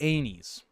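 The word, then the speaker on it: Aenys: Violet, why would we pronounce it that way? It's obviously Anis.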